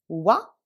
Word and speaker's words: は: On va commencer à étudier, à apprendre la particule wa, mais ce que je dois noter, au japonais, wa s'écrit ha, hiragana de ha, et se dit wa.